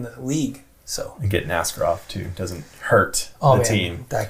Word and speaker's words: Askarov: I said, isn't it Askarov? And he's like, yeah, but even when you say it like that, it sounds bad. So just say it the other way.